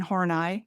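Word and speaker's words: Horney: It was posited by a German psychoanalyst from I think the 1940s named Karen Hornai. H O R N E Y. You pronounce it the way you want.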